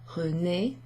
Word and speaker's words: René: Bébé, René, that's that A sound.